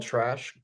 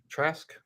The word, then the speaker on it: Trask: the Buccaneers quarterback room I believe it's called trash Trask that's how you pronounce the other quarterback's name and but he's not